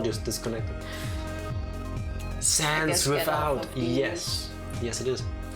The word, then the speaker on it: Sans: Sans with a silent D, so sans.